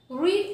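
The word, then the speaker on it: read: तो आरई एडी है लेकिन ये सेकंड फॉर्म है इसकी मिस्टर किसिंग रेड इसे रेड पढ़ा जाता है मिस्टर किसिंग ने पढ़ा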